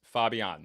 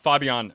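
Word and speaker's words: Fabián: It's not Fabian, it's not Fabian, it's Fabian. That sounds like the Spanish pronunciation.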